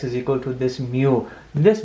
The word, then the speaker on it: mu: be right here x is equal to this mu this mu or mu as it's pronounced is a Greek letter alphabet which represents